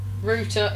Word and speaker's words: router: him in sorry Wally Rooter is pronounced root oh yes yes I don't understand the American thing a router it's it's just irritant